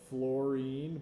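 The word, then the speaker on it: fluorene: stands for that hydrocarbon which is interestingly called fluorine but not the kind that's an atom it's spelled differently I didn't make this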